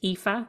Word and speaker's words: Aoife: i f e and it's pronounced epha and my surname is